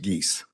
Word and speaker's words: Geese: may correct the court the last name is pronounced Geese. Geese, sorry about that. As in Canada Geese.